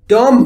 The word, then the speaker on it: Dumb: Dumb bunny. Dumb bunny. بیش خونده نمیشه.